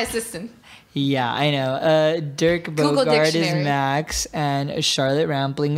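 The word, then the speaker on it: Bogarde: It is Dick Borgant. Borgin? Oh, can somebody Bogard. Get it? Bogard. I'm so sorry. Dirk, yeah, it would be Bogard. And Charlotte Rampling. Where's my assistant? Yeah, I know. Dirk Bogard is Max, and Charlotte Rampling is Lucia.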